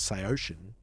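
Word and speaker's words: Saosin: Apparently, the official way to say it is Seosin. Seosin, yeah. Disagree. They themselves say it's Seosin.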